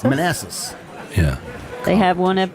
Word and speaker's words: Manassas: Manassas? Manassas.